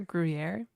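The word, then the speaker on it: Gruyère: I heard Gruyere rhymes with hair. Gruyere.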